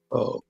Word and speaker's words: pho: You're right with the pronunciation. The dish is called pho.